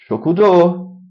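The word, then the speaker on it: 食堂: Shokudo. Very good. They extend the O, shokudo. And it's not an O, it's spelled with a U.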